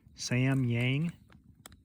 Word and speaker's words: Samyang: I believe the Korean pronunciation is Samyang Ramen.